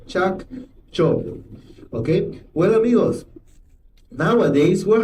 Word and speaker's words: Chacchoben: That is the pronunciation. Chak Chob.